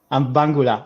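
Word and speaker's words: Mbangula: Bangula.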